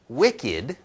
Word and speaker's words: wicked: right ticked okay so we have this word with an ed ending but you know it comes out as just a two right no vowel here just ticked ticked okay but with the word Wicked now we have two syllables right one syllable ticked